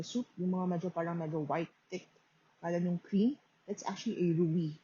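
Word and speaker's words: rouille: baguette and with a rui this one the sauce here on top of um the soup thick that's actually a rui so arubi is spelled as r o u i double l e so this is a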